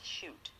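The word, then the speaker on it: Chute: shakespeare of london by marchette shoot that's spelled c-h-u-t-e the other textbook is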